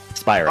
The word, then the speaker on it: Spyro: I would say Spiro. Spiro Spiro. Spyro. Spyro. Spyro as in the dragon.